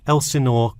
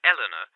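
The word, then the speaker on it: Elsinore: My address is 45 Elsenor Court. I'm sorry. Was that Elanena? Could you spell that for me?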